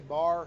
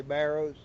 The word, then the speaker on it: barrow: A bar, we say bar here. Some people say barrows. We always just say a bar. It's B-A-R-R-O-W. Spelled like barrow, but people say bars.